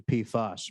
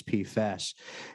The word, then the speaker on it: PFAS: unclear uh absolutely uh I've always pronounced a p fuss but thank you I now know that it's pfest and touching on the recent Federal developments from the EPA on pfas do you think that